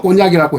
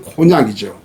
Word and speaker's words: 코냑: 발음은 꼬냑이라고 해도 우리 지금 외래 표기법상 코냑이죠.